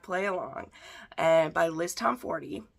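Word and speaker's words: Tomforde: along and by Liz Tom 40 yes it is Tom 40 as in the number 40 okay that's how you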